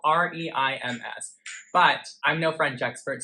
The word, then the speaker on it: Reims: It's spelled R-E-I-M-S.